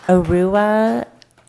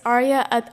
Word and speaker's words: Arya: Arua. I'm probably butchering. Did you just hatchet your name up? But you're going to tell us how to pronounce it. Go ahead. It's Arya.